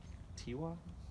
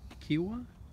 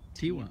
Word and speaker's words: Tiwa: So how do you say the name of this pueblo? Tiwa. Kiwa? Tiwa. Oh, Tiwa.